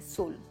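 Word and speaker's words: swollen: दोस्तों, इसमें W को हम प्रोनाउंस नहीं करते, हम कहते हैं सोलन।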